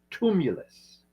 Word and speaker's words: tumulus: word I say Google you spell it t tuu m u l u s tumulus okay and the plural is tumuli t m Uli these are earth created